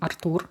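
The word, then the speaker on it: Артур: If your name is Arthur, uh we have name Artur, which is almost similar, just different vowel. Uh so, pronounced a bit differently.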